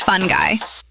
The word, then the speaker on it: fungi: The primary compound from magic fungi. Pronounced fungy because language is important and we respect our squishy ancestors.